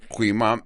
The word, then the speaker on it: Quimam: Yo no espero que lo aprendan, pero si tú vas a decir este nombre Quimam, cúbrete tu boca, porque algo puede salir de tu boca y molestar a los que están frente a ti. Esa es la pronunciación, Quimam en hebreo.